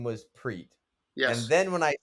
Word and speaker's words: Priit: We have So it's like the Spanish. There's like yeah, a Priit. Yeah, okay. it's Preet. yeah. So that's my how you say it in Estonian.